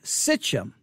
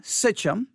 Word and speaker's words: Sichem: s i c h e m sichem s-i-c-h-e-m sichum however if you look up Genesis 12 6